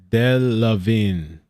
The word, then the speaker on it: Delevingne: Somebody on Twitch, on Edge Mark says it's pronounced Delevingne.